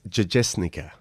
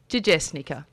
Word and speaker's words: Jajesnica: It's Jajesnica. Jajesnica.